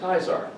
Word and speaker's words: Caesar: caesar you pronounce it caesar in latin the c is pronounced as a k so in latin that word caesar is pronounced kaisar so you can see